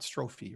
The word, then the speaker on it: strophe: right i think it's strophe and not strophy right anybody know about literature i think it's stroph but any event uh if